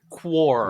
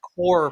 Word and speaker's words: Qore: core performance core performance you pronounced it core for a while I pronounced at quar like with a a cute I don't know Canadian thing you're the most Canadian thing Mitch uh but yeah I pronounced it quar and I don't know why it took me so long to just tune into the fact it's core performance like apple core not it was just